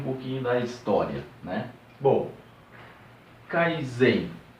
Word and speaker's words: Kaizen: Bom, Kaizen. O Kaizen, ele é uma palavra japonesa, né, que se divide em duas sílabas. A primeira é Kai, que significa mudar, e a segunda é Zen, que significa melhor.